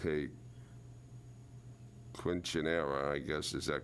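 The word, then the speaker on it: quinceañera: of a family event that he called hey quinceanera i guess is that correct is that how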